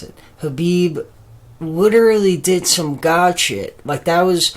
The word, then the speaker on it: Khabib: yesterday like khabib or I should say khabib that's that's how you pronounce it khabib literally did some God